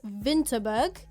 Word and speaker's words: Winterberg: a little bit earlier the W is pronounced as a v so like we said earlier we went to Winter but you pronounce it as vinterberg Y and I would